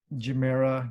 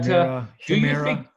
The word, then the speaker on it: Gemera: And it's pronounced Gemera. I thought it would be with a hard G, but no, it's a soft G.